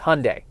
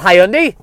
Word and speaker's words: Hyundai: believe that is correct it is Hyundai Hyundai not hi Ani but how are we